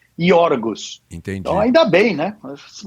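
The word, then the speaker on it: Γιώργος: Porque o nome do cara no original grego era iorgos, né? grego. O nome Jorge em grego se escreve e se diz iorgos.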